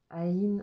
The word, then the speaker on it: Aïn: Donc prononcer son nom, Aïn, en laissant le N continuer, un petit peu comme un homme, mais avec Aïn.